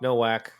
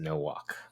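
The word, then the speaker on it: Nowack: i know no walk no whack but we actually pronounce it no walk so that's good to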